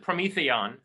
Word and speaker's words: Prometheon: Sorry, I pronounce it Prometheon, and it's a contraction of Prometheus, or rather Promethea, which is the defining quality of Prometheus, and the word aeon in, or eon in Greek.